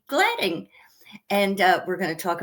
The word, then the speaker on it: Gladin: Actually, we pronounce my name Glading with a long A, but I usually don't correct it.